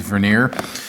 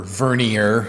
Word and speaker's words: vernier: is a gear tooth veneer and um or vernier for the pedantic folks out there so it's pronounced both ways here in the u.s so anyway this measures